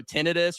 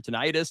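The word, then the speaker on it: tinnitus: They they they sound burning mouth syndrome really you know um you know tinitis or tonitis depending on how you pronounce it but you ringing ear canals um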